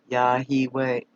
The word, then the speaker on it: Yahweh: to do I know in Aramaic that yahweh is pronounced yahi way yeah he Bay now